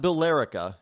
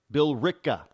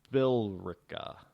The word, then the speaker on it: Billerica: see a bill ricca is how it's commonly pronounced here in Massachusetts and New England not billerica our bill rebell of bill Rica its bill Rica get it the e